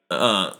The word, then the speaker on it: Smino: Um, I believe he's like really close with like Smino, Smino. I believe that's how you pronounce it as well.